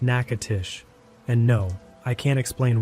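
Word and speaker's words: Natchitoches: If you're not from Louisiana, that's pronounced Nacatish.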